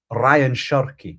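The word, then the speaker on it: Rayan Cherki: Ryan Cherky.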